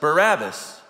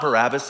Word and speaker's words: Barabbas: It's not Barabbas at all. I'm talking about his last name, if you will. It's actually Bar hyphen Abbas.